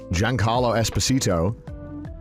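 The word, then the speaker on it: Giancarlo Esposito: Carlo es Carlo esito why does the British pronunciation make it sound like I'm saying a spell Gian Carlo Esposito and they like wheel out Jan Carlo Esposito cuz they're like we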